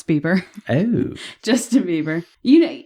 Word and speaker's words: Bieber: right first artist we covered was mr justin beber as his friends call him that's how you say his name no it's bieber oh justin bieber you know it's my thing